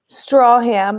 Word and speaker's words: Stracham: Strawham, like a straw you drink from, ham you eat.